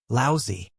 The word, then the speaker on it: Laozi: Li Mu corrected his pronunciation and said, "Laozi."